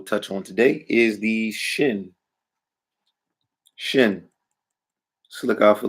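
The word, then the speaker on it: שׁין: Shin or sin, depending on where the dagesh is. If the dagesh is on the right stem, shin. If the dagesh is on the left stem, sin or seen.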